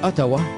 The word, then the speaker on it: Outaouais: Leur nom est prononcé Ottawa.